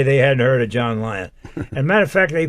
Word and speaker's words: Lyon: they hadn't heard of John Lyon and matter of fact they called him Johnny Lyons I said no there's no s they're my grandchildren my